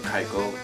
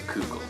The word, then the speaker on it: Keuchel: and 2015 that he managed to get people to pronounce his name Keuchel instead of Keuchel.